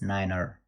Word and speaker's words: niner: and the only way one number is nine which pronounce niner okay let's continue based